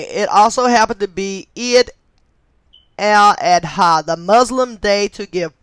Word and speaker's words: Eid al-Adha: Jewish Messiah, and it also happened to be Eid al-Adha. Okay, and I'm going to spell that in case I mispronounced it, but it is spelled EIDAL-ADA. Okay, so okay, it also happened to be Eid al-Adha, the Muslim day to give praise to Abraham,